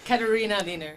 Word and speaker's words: Katharina Lehner: Katharina Lehner. Katharina Lehner. Can you spell that for the people out there?